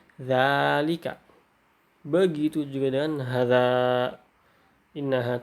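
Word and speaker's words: ذلك: Hai inhart untukku bosannya Zalika itu diucapkannya seperti Zalika Begitu juga dengan harga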